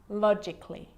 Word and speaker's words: logically: Now, the letter A can be silent, especially in words that end in A-L-L-Y, like these. Romantically, musically, logically. So I'm not pronouncing romantically, musically, and logically. Cut the A out.